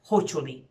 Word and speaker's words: hoću li: I want to remind you that even though the interrogative particle and the auxiliary verb are two words, you would pronounce them as one word. Hoću li.